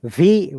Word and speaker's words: Virginia: Virginia. Virginia, Stress on V. V- Virgi, Virginia, Virginia.